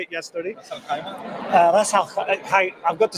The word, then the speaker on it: Ras Al Khaimah: Ras Al Khaimah.